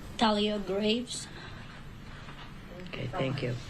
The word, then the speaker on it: Thalia Graves: we have the correct do you want to pronounce her name Talia Graves okay thank you m GL are you in